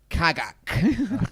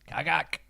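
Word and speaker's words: Cagak: Your name is Kagak. Okay. You want to spell that one for me?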